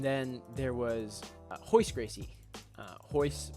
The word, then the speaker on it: Royce: Royce with an R. Rickson is also with an R. That's just how they say it in Brazilian Portuguese.